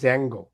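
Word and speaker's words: Django: স্যার, ইউআইতে যখন আমরা ছিলাম স্যার তখন আমাদের ড্যাঞ্জোটা শেখা হয়নি। হুম তো হুম এইটা নতুন ছিল আর কি নেক্টারে লার্ন করাটা। এটা মানে প্রোনাউন্সিয়েশন হবে জ্যাঙ্গো। জ্যাঙ্গো, আচ্ছা ঠিক আছে, থ্যাংক ইউ স্যার।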